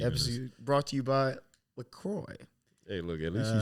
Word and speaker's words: LaCroix: Yeah, this is wasn't this even episode brought to you by LaCroix.